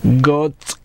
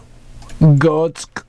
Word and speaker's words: Götze: I can get Gertz's name wrong. It is Mario, though, right? No. What's his first name? I don't know. If it is, I'm going to kill you. Borussia Dortmund. Götze. It is. Götze.